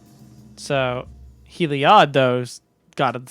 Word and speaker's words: Heliod: Another one I may have trouble pronouncing. Gotcha. Helioid. Heliod. Heliod.